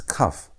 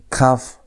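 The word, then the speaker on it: כ: Next example is cuff. When cuff has a dot, it's pronounced like a normal K. It's K sound as in the word king. But when cuff has no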